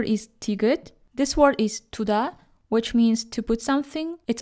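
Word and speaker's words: 두다: So we read the first tigut as t, since it's the first letter in this word, and second tigut as d, because it's placed between vowels u and a.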